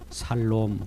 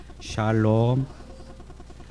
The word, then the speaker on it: 샬롬: 하겟습니다 샬롬 이상이 있습니다 샬롬 발음이 조금 어색한 부분이 있어요 살롬 그런 분이 계시네요 샬롬 정확히 한번 발음 해봅시다 샬롬 내 우리 주님은 우리에게